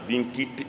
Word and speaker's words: vincit: C'est écrit vincite mais on prononce en latin il y a pas de c c'est cas laabord omnia vin kit improbous vous l'avez vous